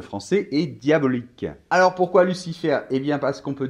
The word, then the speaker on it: Lucifer: la chose suivante, que les consonnes en position finale dans les mots en français ne se prononcent pas, sauf le L de Lucifer, le C de Lucifer, le F de Lucifer et le R de Lucifer.